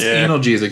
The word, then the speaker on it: analgesic: have the body absorb this is pronounced analgesic not anal analgesia's not analgesic the